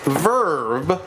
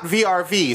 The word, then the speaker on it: VRV: not know this but it is pronounced verb I don't think anybody knew that not vrv so when you talk